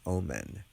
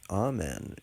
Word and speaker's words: amen: it and call it omen oh what's the omen you know but amen is the correct pronunciation and conveys the correct meaning anywho um meanwhile we